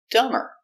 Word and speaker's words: dumber: Example, dumber. We put ER after dumb. It looks like B, but remember, there's no B. Dumber.